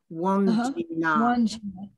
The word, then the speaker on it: Wandjina: Wandjina, W-A-N, and then J-I-N-A, or it can be spelled as D-J-I-N-A, Wandjina.